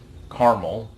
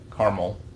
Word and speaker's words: caramel: then i also have a sugar-free caramel or caramel uh depending on what coast you live on but i'm going to say carmel because i'm in texas so if i'm saying